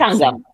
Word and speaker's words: Sangam: Sangam, Sangam, yeah, Sangam. It's a little yeah. bit more of the Sangam. And that Yes. actually literally means come together. Is that right? Yes, Is that kind Sangam in Sanskrit means confluence, of and it's confluence?